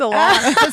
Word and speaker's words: Alanis: No, it's Alanis.